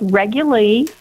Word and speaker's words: Reguli: couple times but it's regularly it's just like regular only it's got a